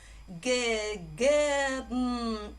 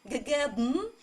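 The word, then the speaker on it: געגעבן: Not only bn will be a separate syllable, you also close your mouth, so instead of bn, you read bm, bm.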